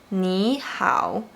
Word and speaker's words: 你好: But when the third tone is followed by another third tone, you should pronounce the first one like the second tone. For instance, 你好, 想法.